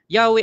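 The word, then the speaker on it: Yahweh: But ah sa consensus ng mga scholars, ang sabi nila Yahwe ang pinakamalapit na bigkas doon sa tetragram.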